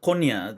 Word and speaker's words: Konya: And this particular Konya, is that how we're pronouncing it?